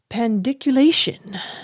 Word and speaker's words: pandiculation: Pandiculation, not dick. Okay, get your mind out of the gutter. It's actually called pandiculation.